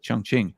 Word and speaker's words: Chongqing: beauty about educating you guys about cities like Chongqing or where no this is did I pronounce that correct uh yeah that's right yeah